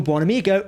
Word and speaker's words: Buonamigo: Now it is finally revealed that Admiral Buonamigo is the person who erased Ensign Rutherford's memory.